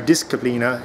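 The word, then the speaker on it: disciplina: it's a gladiator disciplin our discina in Latin hard C at all times but anyway so that's where we're at just a little update so stay tuned got a fluent fighting.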